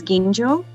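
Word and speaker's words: ginjo: maybe take home from this session which is genjo it's spelled g-i-n so if you look in the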